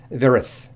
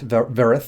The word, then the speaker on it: Vyerith: about and that is Varys I believe it's pronounced vera with the Y being silent she's disguised as a